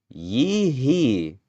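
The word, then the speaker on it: Yi He: Yee hee. That's funny. That's her actual name. Just two syllables.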